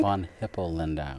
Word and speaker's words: Von Hippel-Lindau: Now, as I promised, von Hippel-Lindau. Did I say it right? Von Hippel-Lindau.